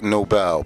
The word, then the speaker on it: Nobel: Most people say Black and Noble. I get used to it, but it is Nobel, Black and Nobel, like the Nobel Peace Prize.